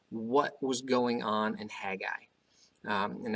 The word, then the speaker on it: Haggai: was going on and Haggai and actually it's hey guy I'm like hey guy that's how you pronounce it apparently in the Hebrew hey guy historical setting